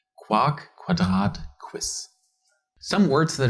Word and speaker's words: Quark: After almost all words that start with a Q comes an U and are pronounced as follows. Quark, Quadrat, Quiz.